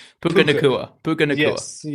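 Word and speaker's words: Nacua: cover Devonte and who's going to cover Puka Naga. No, I'm going to I butchered his name, but you know what I'm talking about. Puka Nua.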